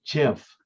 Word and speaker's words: GIF: And one of the um he invented it a long time ago and uh it is pronounced GIF.